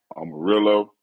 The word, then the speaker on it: Amarillo: you pronounce it right arminello arminello how you pronounce it Amarillo yeah yeah I know they got the 72